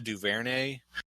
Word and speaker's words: DuVernay: It's a documentary done by Ava DuVernay. Oh, I love her. I hope I'm pronouncing her.